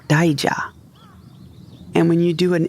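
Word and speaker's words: 大蛇: The characters for big snake in Japanese are not pronounced ohebi, like I thought, but daija.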